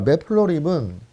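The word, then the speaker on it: matplotlib: 립을 알아보도록 하겠습니다 배플러리 자 맵플로립은 요렇게 써요 여러분 맥플라워 립이라고 쓰십니다 자 있는 것도 맷 플럿 립이라고 읽으시면 돼요 맵 플러리 org에서 관련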